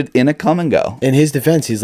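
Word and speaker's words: Kum & Go: But the sign is literally spelled with a K, so it's Come and Go.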